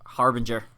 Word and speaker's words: Harbinger: it wrong say it for me it's hair Harbinger Harbinger yeah I'm always gonna say it wrong